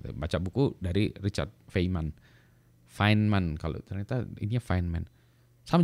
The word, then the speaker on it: Feynman: jauh ini tulisannya Oh feynman itu finman tapi tulisannya FB YM Advan kok selalu feynman baca buku dari Richard feynman finman kalau ternyata Ini finman